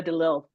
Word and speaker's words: Delille: Henrietta DeLille, please. DeLille, sorry. Let me pronounce her name correctly, because you will have every Creole person in Louisiana screaming at Thank you right you.